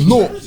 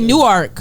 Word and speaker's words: Newark: She was Nork. So it was at the Prudential Center? Yeah. I guess that's you gotta lit. say Nork like that at the end of the day.